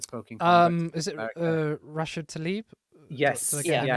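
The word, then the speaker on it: Rashida Tlaib: Is it Rashid Tlaib? Yes. Did I get the name wrong?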